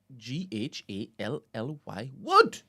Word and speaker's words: Gallywood: Gallywood. galley. Yeah. It's the informal name of the film industry of Ghana. Gallywood. Spell that, Gallywood. please. Ghally Wood. Say wood like that.